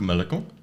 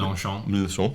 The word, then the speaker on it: Mélenchon: Jean-Luc Mélenchon, I think I pronounced that correctly. Mélenchon, thank you.